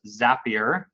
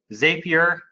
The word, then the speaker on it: Zapier: And yes, it is pronounced Zapier. I know some people pronounce it Zapier, and when it first came out, there was